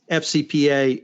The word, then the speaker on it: FCPA: as Matt say is FCPA the eff is silent so Matt first of